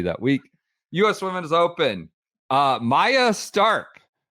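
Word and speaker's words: Maja Stark: Maya Stark, person I used to call Maja for some reason. Maya Stark. Masha, no more. Now that she's won her major, she's graduated out of your mispronunciation world.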